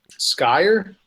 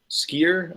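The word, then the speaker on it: skyr: going to try it it's called Skye ur skier I'm probably mispronouncing it s spelled s KY er the sky or sky or year starry sky er oh s k yr yogurt yeah Icelandic yogurt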